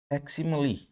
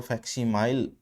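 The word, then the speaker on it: facsimile: इसको फैक्सिमली फैक्सिमली इसको फैक्सीमाइल आप प्रोनाउंस नहीं करेंगे, इसको फैक्सिमली प्रोनाउंस करेंगे और इसका मीनिंग रहेगा एग्जैक्ट कॉपी।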